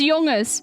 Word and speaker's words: jongens: This N right here, you think it's jongens? No, it's jonges, okay? We just don't pronounce the N at the end.